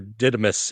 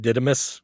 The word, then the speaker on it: Didymus: The big giant Sasquatch dude, and Sir Didymus. Is that how you say it? Didymus?